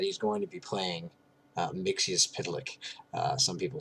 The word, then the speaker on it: Mxyzptlk: My understanding is that it's Mxyzptlk. I believe I got that from either Lois and Clark or Superman the Animated Series, and I appreciated the pronunciation so much that I decided to stick with it.